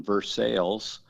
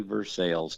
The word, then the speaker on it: Versailles: So, uh yeah, I'm here in Woodford County uh in Versales, spelled like Versailles, but we say Versales down here.